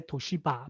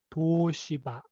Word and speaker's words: Toshiba: like toshiba normally when say normally we say toshiba but actually the japanese pronunciation is toshiba and osaka it's the the japanese pronunciation is